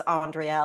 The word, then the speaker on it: Andrea: pronounce my name and I say it's Andrea like mitochondria so that's why we're